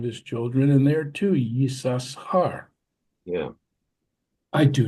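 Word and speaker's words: יששכר: The word Yisachar, why don't we say Yisachar? I mean, there's an extra shin in there that is silent. I never understood that. I never even thought about it. Yeah, Yisachar.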